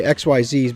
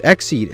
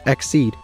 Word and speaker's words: Xyz: number one and I used to just say xyz's but then one time I did a deck profile and people were like bro it's it's exed and then somebody expelled it out this is